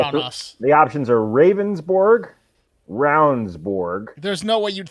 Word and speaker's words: Ravnsborg: The options are Ravensborg, Ravnsborg.